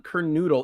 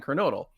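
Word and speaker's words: Kernodle: Watts, I should say, calling him Don Carnoodle, even though like the ring announcer would announce him as Don Carnodle, but just a lot of people could not get that pronunciation through.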